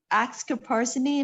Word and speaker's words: oxcarbazepine: Oxcarbazepine, if I'm saying it right.